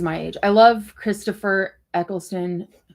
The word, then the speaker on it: Eccleston: Eccleston.